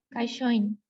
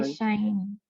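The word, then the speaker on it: 会社員: Tenemos una sílaba con sonido combinado, Kaishoin. ¿no? Otra. Ya. Este es ya. Sí, ya recordé. Hai. Kaishain.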